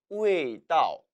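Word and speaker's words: 味道: 따라서 남방에서는 길 도자를 써줌으로써 우웨이다오, 우웨이다오라고 발음해요.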